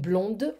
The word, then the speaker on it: blonde: pronounce the d and blonde i pronounce the d because it's feminine and pluno okay so